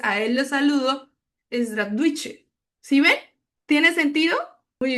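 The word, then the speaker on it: здравствуйте: Suena un poco diferente. Eh, decimos "drastvuyte".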